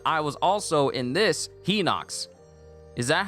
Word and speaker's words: Hylian: me that Hylian Shield pronounced at least to me high Knocks no it's he knocks no one can